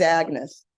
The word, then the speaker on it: Agnès: I'm only saying Agnès because it's Europe, you know. In America, she's Agnes.